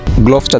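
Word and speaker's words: gloves: Cricket খেলতে গিয়ে তোমরা অনেক সময় বলো যে গ্লোভসটা দেওয়া, আসলে গ্লোভস এটি অশুদ্ধ উচ্চারণ।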